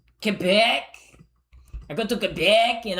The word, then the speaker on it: Quebec: Um it's pronounced Kebec. Kebec.